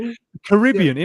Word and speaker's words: Caribbean: So how do you say Caribbean? It again? Caribbean. Yeah. It makes sense because it's named after the Caribbean. Caribs. The Caribs were, so Caribbean kind of makes sense.